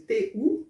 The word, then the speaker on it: tu: O tu escreve-se T-U, mas a pronúncia é como se fosse T-I, com som fechado.